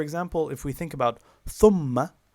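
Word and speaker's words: ثُمَّ: So for example, if we think about thumma, thumma is made up of two syllables. The first syllable is thum, which is long, and it's followed by ma, which is short. In combination, thumma, two syllables.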